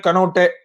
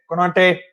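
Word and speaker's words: Konaté: season they have signed kanote konate sorry forgot his name wrong konate and they'll have the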